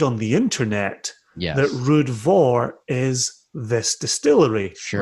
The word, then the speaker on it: Ruadh Mhor: not to interesting yeah but i did somewhere on the internet read that this distillery rhymes with glenn turret i have read the